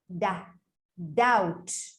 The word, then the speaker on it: doubt: Doubt.